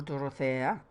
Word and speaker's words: Dorothea: Her name is Dorothea. Or Dorothea, like I pronounce it. I like it better.